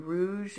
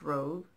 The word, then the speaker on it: rogue: shade going rogue I've heard people online sing going rouge and I hate to be that person but it is ro gue is pronounced rose not Rouge it was Rouge it